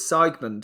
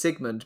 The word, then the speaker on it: Sigmund: talking about Sigmund because you kept pronouncing its segment and I said oh I think it's Sigmund because I knew that